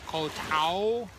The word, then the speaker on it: Koh Tao: and as I said we are in Koh Tao which is how it's properly pronounced Thailand we got it